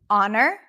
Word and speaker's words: honor: Honest, you do not pronounce the H. Good. Honor, honest.